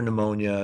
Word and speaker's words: pneumonia: numo and AP so pneu is Greek for breath it's why you hear pneumonia it's why you hear pneumothorax or anything even though it's silent P it's it still starts with a P so when you